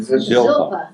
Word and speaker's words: Zilpah: Laban also gave his maid, how do you pronounce that one? Zilpah. Zilpah, to his daughter Leah as a maid.